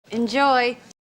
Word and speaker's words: enjoy: go enjoy enjoy enjoy second syllable stress enjoy enjoy enjoy enjoy so